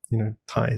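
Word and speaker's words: Thầy: We only need 1, and it sounds like, Thai.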